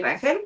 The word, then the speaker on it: Rangel: Actually, Rangel is correct.